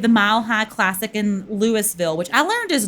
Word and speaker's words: Lewisville: Um, so we have the Mile High Classic in Lewisville, which I learned is not spel like pronounced Louisville.